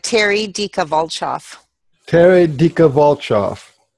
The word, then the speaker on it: Dika Volchoff: series on YouTube and today I'm interviewing Terry Ditka how do you say last your last name it said Terry dica volkov Terry Ditka volkov sounds like a one of